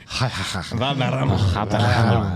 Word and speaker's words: Valderrama: If it's in Spain, would you like to pronounce it in your Spanish accent? Valderrama.